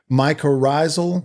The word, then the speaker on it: mycorrhizal: Mycorrhizal.